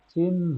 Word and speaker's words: চিহ্ন: চিহ্ন, চিহ্ন, চিন, প্রথমটা চিন, চিদ্দেশ, চিন স্বাভাবিক, তারপরে ন, চিহ্ন, মধ্যাহ্ন।